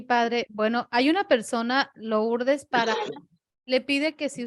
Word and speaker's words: Lourdes: Lourdes. O-U es diptongo francés, se pronuncia U. Lourdes. Lourdes.